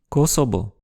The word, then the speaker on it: Kosovo: voyelle réduite comme dans Kosovo. Mais le son V n'existe pas en japonais et le plus souvent, ce mot est prononcé et écrit Kosobo.